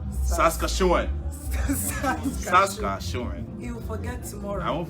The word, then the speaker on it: Saskatchewan: Okay, somebody has taught me how to pronounce Saskatchewan. Saskatchewan. You'll forget tomorrow. I won't forget tomorrow. Saskatchewan.